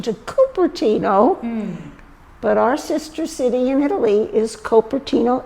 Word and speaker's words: Cupertino: And his patron saint was Saint Joseph of Cupertino, Italy. Oh, that's okay. See the tie-in. Here we go. And so, as they came through this area, he named things after his patron saint. There was Cupertino Creek.